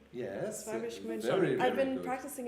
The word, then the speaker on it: Schwäbisch Gmünd: Did I pronounce it correctly? Yes. Schwäbisch Gmünd. Very I've been good. practicing in the mirror every day. Yes. Okay. Schwäbisch Gmünd.